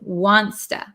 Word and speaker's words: wants to: to get dinner later so if you don't already say wanta I would get in the habit of practicing the pronunciation wanta wanta okay oh so uh